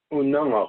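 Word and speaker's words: Unangax̂: Unangax, it's spelled Unangax with a circumflex on top of that.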